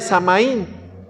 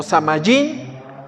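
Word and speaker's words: Samhain: como el día de samaín o samaín Osama Jaén como usted lo quiere pronunciar Pero qué era Este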